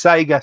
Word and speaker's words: Sega: Question: Can you tell Retro Ed Steve how to pronounce Sega? It's Sega, Steve.